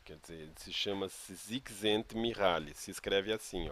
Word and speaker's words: Csikszentmihalyi: Quer dizer, ele se chama Csikszentmihalyi. Se escreve assim, ó.